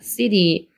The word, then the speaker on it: city: 얘는 city인데 여기에 중간에 있는 t 발음은 드 발음이나 루 발음으로 바뀌는데 얘는 드 발음으로 city라고 해주시면 돼요. city.